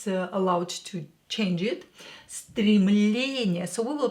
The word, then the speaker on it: Стремление: Итак, первое слово стремление. Номер один. Так. Стремление. Что такое стремление? Стремление is aspiration or urge. Aspiration or urge. Стремление.